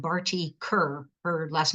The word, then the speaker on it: Kher: referenced a really cool visual artist called Barty Kerr. Her last name is spelled Kher, and her artwork is mostly of bindis that she has placed.